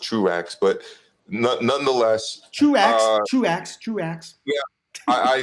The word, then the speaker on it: Truax: French name is Tro, but it's pronounced Truax.